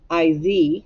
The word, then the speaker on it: is: breakfast is i s is sounds like um i z but i s is